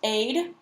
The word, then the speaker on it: aid: And then we move on down here to the A sound, so first aid. This A sounds like the letter is pronounced, so like an A, aid, aid.